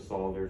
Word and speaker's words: solder: Also see 250.148E for restrictions on the use of solder for connecting equipment grounding conductors. It's just solder. You don't have to pronounce the L.